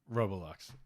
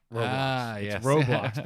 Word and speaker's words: Roblox: that and another one what's that game that i pronounce wrong every time that every kid apparently plays uh robolux roblox i call it robolocks every time but yeah so roblox